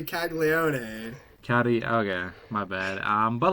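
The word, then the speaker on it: Caglianone: You gotta say Caglione.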